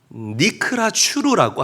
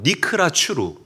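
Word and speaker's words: נִקְרַת הַצּוּר: 이 반석 틈이라는 이 단어의 히브리어 원어가 니크라 추루라고 합니다. 한번 저를 따라 할게요. 니크라 추루. 발음 맞아요. 다시 한번 따라합니다.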